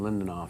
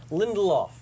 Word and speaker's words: Lindelof: show next week Damon lindoff whose name I could never pronounce say it for me once once I lindoff lindoff there's an L in the middle Lindelof you got of kind